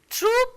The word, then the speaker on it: troupe: Troop of monkeys, exactly the same pronunciation.